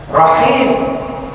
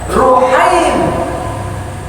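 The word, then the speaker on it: رحيم: meredahkan nama Allah misalnya rahim nama Allah Arrahman arrahim rahim dibacanya ruhim tanda tas itu Huruf pertamanya didomahkan Hamid humaid itu apalagi eh rahim jadi ruhim ya Enggak boleh kitaaca ya ruhim Wahai Allah yang maha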